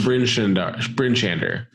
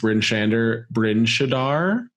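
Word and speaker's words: Bryn Shander: He's from Bryn-Shander. Sorry, I had another game where we were playing the Storm King's Thunder, and we mispronounced Bryn-Shadar, and it like stuck.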